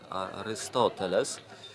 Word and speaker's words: Arystoteles: mądry, ja przypuszczam, że Arystoteles, nie wiem, czy dobrze pamiętam i nie wiem, czy dobrze akcentuję, bo to się powinno mówić Arystoteles. Trzecia sylaba od końca chyba powinna być akcentowana, no ale proszę Państwa,